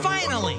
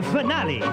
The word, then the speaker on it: finale: next is our grid finally it's pronounced finale whatever did you get